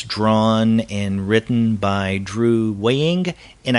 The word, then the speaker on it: Weing: and written by Drew weighing and I guess we're pronouncing that last name correctly it's w-e-i-n-g and in fact you